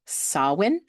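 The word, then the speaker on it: Samhain: It's it's spelled s a m h a i n but that is actually pronounced sawin.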